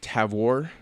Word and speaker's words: Tavour: I will say about Tavor although when they pronounced it on the phone it's like TAV war most of the IPAs